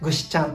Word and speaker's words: 具志頭: 可愛いですよねこの頭と書いてこの方形にを見てねぐしちゃんと呼びます頭というよう